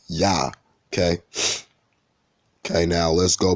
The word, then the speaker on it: Yah: It's spelled with an I-A-H, or Jah, right? Well, it's really Yah, okay?